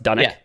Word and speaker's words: Dunwich: it's spelled dunwich uh dunwich is a real town in scotland pronounced done it um oh okay but